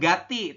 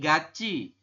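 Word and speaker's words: 같이: Bunyi cieat seperti ini Jadi dibacanya bukan Gati tapi GCI bisa bisa ya Kalau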